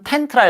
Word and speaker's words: content: be content with 그다음 아 이거 컨텐트 읽으면 안 되죠 텐트라 읽어야 되겠죠 텐트라고 읽으면 목 차례 내용이란 뜻이고요 컨텐트 목차 순서 차례 목차 그다음에 내용물 근데 컨텐 컨텐트가 아니라 텐트라고 읽으면 요렇게 만족한 이런 뜻입니다 전부 다 다입니다 전부